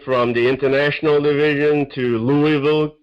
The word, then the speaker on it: Louisville: the international division to louisville kentucky or louisville as you pronounce it to corporate headquarters for